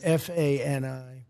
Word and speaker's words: Fani: She goes by the name of Fani, even though it's F-A-N-I. She wants it pronounced Fani.